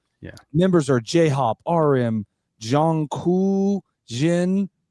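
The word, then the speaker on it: J-Hope: members are Jhop, RM, Jong, Cu, Jin, Z, Suga, and V. So, totally pronounced properly, I'm sure. Oh, yeah. Oh my goodness. The one is Jhop. It's J-Hop.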